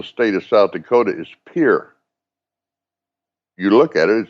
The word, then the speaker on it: Pierre: Capital of the state of South Dakota is Pier.